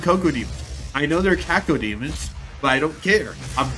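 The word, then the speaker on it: Cacodemon: Coco Demons. Caco Demons, yes.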